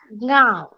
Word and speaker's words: गाँव: गुआदी, नहीं, जो बोल रहे थे वो बराबर है, सिर्फ उच्चारण करते वक्त गांव ऐसे होना चाहिए, न का थोड़ा बहुत उच्चारण आना चाहिए।